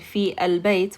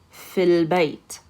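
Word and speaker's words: في البيت: So instead of saying fi al-bayt, we're going to say fil bayt.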